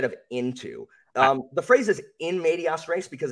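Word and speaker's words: in medias res: means in instead of into um the phrases in medias race because it's into the middle of things so it makes it singular too and plural sorry well I think I said media res so I think I was way off oh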